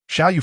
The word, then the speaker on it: Xiao: Beside him, a blue-eyed foreigner, eager to learn, was engrossed in a new Chinese dictionary and called out to him, "Little fish, it's Shiau," he corrected.